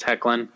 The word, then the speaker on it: Hoechlin: I think is what I've heard pronounced Hecklin. Yes. Maybe the O is silent.